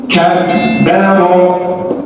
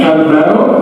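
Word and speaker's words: كبّر: Maka untuk cara bacanya adalah sukunkan hurufnya baru baca harakatnya. Kabbaro tidak kabaro tapi kabaro yukabbiru rattala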